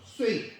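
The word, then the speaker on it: 說: 그런데 그 기술로 뭐 검술이라든지 이런 것들로 해서 여기서는 이걸 설로 읽으면 안 됩니다. 한문으로 읽을 때도 새라고 읽어요. 유세한 거예요. 중국 발음으로도 쏘가 아니고 그쵸, 쇠 이렇게 발음해야 되는데 위나라 원군에게 유세를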